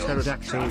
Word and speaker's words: pterodactyl: why can't you hear if pterodactyl go to the bathroom because the p is silent hanger why is